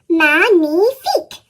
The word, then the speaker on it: magnifique: Magnifique.